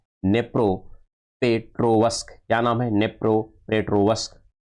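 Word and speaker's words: Дніпропетровськ: है उसका नाम है नेप्रो पेट्रोवस्की नेप्रो पेट्रो वस्क यहां पर ये देखिए यहां पर डी है ए लेकिन डी क्या है साइलेंट है लेकिन नाम यही है यहां पर यह नी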